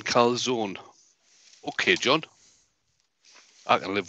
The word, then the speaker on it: calzone: Right, John from New Jersey has said, you don't pronounce the E in calzone.